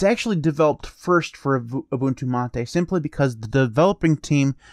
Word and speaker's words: MATE: address the whole pronunciation for me it's mate supposedly that's how you pronounce it but anyways that is